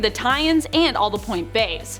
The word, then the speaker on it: Point B: I like to call them Point Bays, but B is also an acceptable pronunciation in my books, considering it's short for Beyond, so B. I just like saying Point Bay.